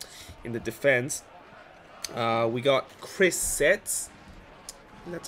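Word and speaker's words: Chris Seitz: We got Chris Setz. That's how you pronounce his name.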